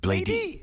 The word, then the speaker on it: Bladey: Or this hunter Echo 2K with his friend Bladey. Yeah. Is that how you say it, Bladey? I say blade, but you can say bladey too.